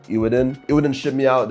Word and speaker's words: Eweadn: And the people over at E Wadin, kind of hard to actually pronounce this, but I'm going to call it Ewin.